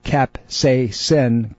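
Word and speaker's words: capsaicin: i n and it's it's actually pronounced cap say sin capsacin and these things it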